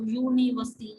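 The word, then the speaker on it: university: यूनिवर्सिटी, उसको उसको pronounce करके देखो, यूनिवर्सिटी, य से स्टार्ट हो रहा है, तो यह हमारे पास वाउल है ही नहीं, तो कॉन्सोनेंट है, तो क्या हम लगा देंगे, अ यूनिवर्सिटी। ठीक है, ऐसे से एक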